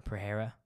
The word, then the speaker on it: Pereira: Izzy was winning 4-0, maybe 3-1 if you're being generous for Pereira. I think it's pronounced Pereira, but I'm going to say Pereira because I'm an American and I'm ignorant.